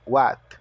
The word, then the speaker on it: What: que What pronome interrogativo What o w com o som de u o h é mudo o a com o som de a e o t com o som de T What o do está